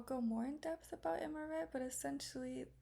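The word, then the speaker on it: imqaret: that desserts such as amaret, which, by the way, the Q is silent in Maltese, are prepared. In the next slide, I'll go more in depth about amaret, but essentially it's a traditional Maltese pastry filled with dates.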